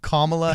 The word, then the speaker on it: Kamala: past Kamala camel camel it's not camel it's Kamala Harris but everybody says Kamala and it's I doubt